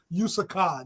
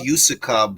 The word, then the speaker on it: Usyk: That's not how you say his name. Usyk. That's funny. Bro, his name is Usyk, bro.